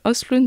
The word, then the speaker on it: Östlund: Comment ça se prononce ? Östlund, c'est mieux quand même.